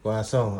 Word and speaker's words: croissant: kami sa bahay at pinipare na namin ng croissant. How do you pronounce this one in French? Croissant. Croissant. But sa iba, sa English, croissant. Croissant. Croissant. Ang unang basa ko, croissant. Sa French, croissant. Asa. Kwasong.